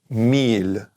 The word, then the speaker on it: mille: We're going to just bring it down to this though, M-I-L-L-E, which means mille, which is pronounced mille, and that means 1,000.